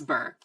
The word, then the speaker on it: Bure: I hope it's not Bure, and I'm just like, Bure. It's Bure.